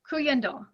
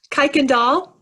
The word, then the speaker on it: Kuykendall: It is going to be Cuyendel. Oh, that's great. Thank you. You're welcome. Congratulations. Woohoo. And how do you say your last name? Kuykendall.